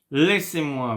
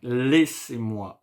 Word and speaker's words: laissez-moi: A-I in French. I speak French. A-I, A-I in English. Make the sounds E. Laissez-moi. Laissez-moi. And you have the same sound at the end. E-Z in French, we pronounce it E.